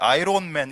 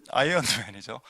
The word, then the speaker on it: 아이언맨: 그 요즘 영화 나온 아이언맨 그걸 아이론맨 이래서 하면 안 됩니다. 그 한국 발음입니다. 아이론맨 아이롱 되죠? 다리미맨 재미없습니까 여러분? 예, 아이언맨이죠.